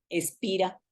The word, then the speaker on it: SPHIRA: un poquito aclarando sí le llamo con la H muda espira precisamente a la metodología